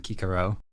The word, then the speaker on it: Cicero: I think it sounds way better than Kikero. Okay, cool. All right, Cicero. But just in case any of you out there didn't know, that is not the classical Latin way of pronouncing that name.